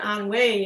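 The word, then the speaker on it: ennui: They got a lot of onway, but they pronounce it onway in English just like they pronounce Katarakway.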